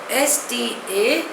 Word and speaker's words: status quo: Spelling is S-T-A-T-U-S-Q-U-O. Pronunciation is status quo. It is a Latin word.